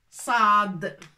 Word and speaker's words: صاد: c'est Assad حرف Assad ça s'écrit comme ça Saad d'accord تنطق ص با س نو ص سي ان